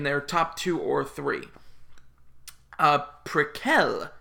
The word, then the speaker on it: Prequelle: top two or three precal which is how Tobias Forge pronounced it when I went to